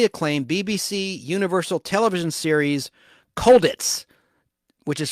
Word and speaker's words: Colditz: McCallum starred in the critically acclaimed BBC Universal television series Colditz, which is spelled cold like Cold War, ITZ. Colditz, like a Ritz cracker. Cold Ritz, Colditz, which ran from 1972